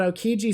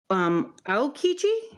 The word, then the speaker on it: Aokiji: Is he Admiral D Aokiji? Did I say that wrong? You said Aokiji.